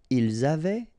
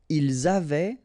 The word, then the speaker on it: ils avaient: Ils avaient, so look here, E-N-T, you write them, you don't pronounce them.